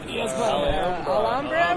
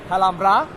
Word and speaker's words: Alhambra: Alhambra? We're trying to figure it out. It's actually pronounced Alhambra.